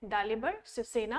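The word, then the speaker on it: Svrčina: दालिबर शिवसेना, इसकी spelling SVRCINA है, बट हम इसको बोलते हैं डालिबर शिवसेना ऑफ शेजिया won the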